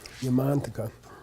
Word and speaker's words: Yamantaka: In English, we normally accent the penultimate syllable, the next to the last syllable. Ratnakara, Ratnakara, Yamantaka, Yamataka. Yeah, but if you know Sanskrit, you should be kind of giving more emphasis to the long vowel. Ratnakara. Okay, Ratnakara, Yamantaka.